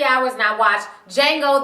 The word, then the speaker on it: Django: hours and I watched Jango the D is silent Unchained and you guys